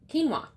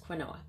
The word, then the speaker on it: quinoa: for rice would be quinoa or it looks like it should be pronounced Quin OA but it's quinoa um it's actually not